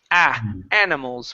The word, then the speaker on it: animals: So it's animals with a short A sound. Animals. Animals. Good. Give me that L at the end instead of animals.